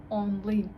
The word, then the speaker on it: аңлыйм: Я «н» с хвостиком не могу выговаривать, но выбрала такое слово. Онлин. Онлин. Понимаю. Также у нас ударение. У нас ударение на последний слог, и мы тянем гласный.